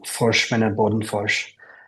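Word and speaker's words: Forsman & Bodenfors: Yes, the Director of Business Affairs and Talent I'll try to say it with the Swedish pronunciation, Forsman Bodenfors. Our office is in New York.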